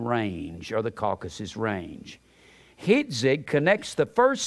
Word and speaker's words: Hitzig: Hitzig connects the first syllable with the Coptic ma.